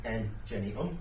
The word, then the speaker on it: Engeneum: So, you pronounce my company name M Jenny because everybody gets it wrong.